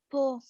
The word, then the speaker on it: Po: Po. Pole. Po River. Por? No, Po.